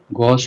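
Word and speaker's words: gauche: ठीक है, गॉश pronounce करोगे इसको।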